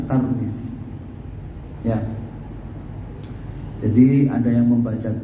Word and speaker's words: Tirmidzi: Ada yang membaca dengan dikasroh Tirmidzi, tak dan mimnya dikasroh. Ada yang membaca dengan didhammah, tak dan mimnya Turmuzi. Dan ada yang membaca, kalau nyebut negaranya di Domah, Turmuz, ya, Turmuz, ya. Ada yang membacanya dengan difathahkan tak dan dikasrohkan mimnya, Tarmizi, ya. Jadi kita teringat dengan Pak Tarmizi Tahir, ya. Ya, itu bacaan yang benar, Tarmizi, ya.